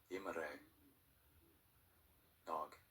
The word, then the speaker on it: Imre Nagy: In Hungarian, his name is pronounced Imre Nagy.